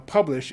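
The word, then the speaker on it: Publish0x: now publish is spelled p u b l i sh0x but i'm told the 0x is silent so it's publish 0x dot io and my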